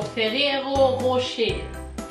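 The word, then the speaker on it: Ferrero Rocher: フェレロロシチャドイツで発音するとフェレロロシェ全然違う。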